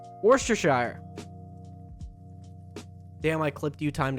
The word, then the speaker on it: Worcestershire: Shire is not actually pronounced in England that way. Well, fair. Worcestershire. Worcestershire.